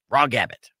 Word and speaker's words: raw gabbit: for me please yes it's the word raw r a w and gabbit it's like rabbit but with a G raw gabbit I feel like when